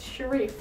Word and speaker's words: Sherif: I always find the name Sherif mildly amusing because it's spelled like sheriff, but it's Sherif.